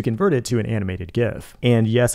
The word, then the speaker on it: GIF: it to an animated gif and yes I said GIF with a hard G to get a bunch